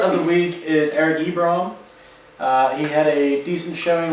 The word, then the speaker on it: Ebron: You said his name wrong like 5 different ways now, and I said it. Ebron.